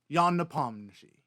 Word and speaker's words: Ian Nepomniachtchi: Knee, like your knee. Palm, like your palm.